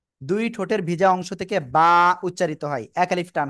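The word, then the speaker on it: با: কি করা যাবে না ই করা যাবে না দুই ঠোঁটের ভিজা অংশ থেকে বা উচ্চারিত হবে বা হরফে এক আলিফ টেনে পড়তে হবে বা বা এক আলিফ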